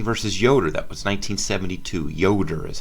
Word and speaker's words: Yoder: district okay wisconsin versus yoder that was 1972 yoder is how you say that amish students in